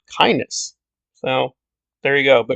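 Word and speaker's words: Kynes: which people don't know kines and the dune saga that's not how herbert pronounced the name he actually pronounced it kindness so there you go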